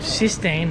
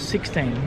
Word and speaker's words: Sistine: And it's called Sistine, not 16. Many people think it's 16.